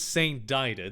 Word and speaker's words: Saint Dider: This is Saint Dider. This is not a mistake. This is the actual way that the author wanted this name pronounced.